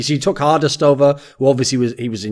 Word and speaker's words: HQRDEST: Herkdest? Is that it? What? Sorry? HQRDEST. Is it Herkdest? Hardest. Yeah. You just say it as an A, okay, right? So you took Hardest over, who obviously was in your previous team as well.